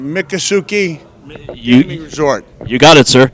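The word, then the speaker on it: Miccosukee: to be right here help me with the pronunciation mikasuki Resort you got it sir yeah right here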